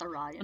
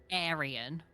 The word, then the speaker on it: Orion: because sound very bad it's Orion not Aran mhm Aran okay Orion it should be with an O um oh it's Orion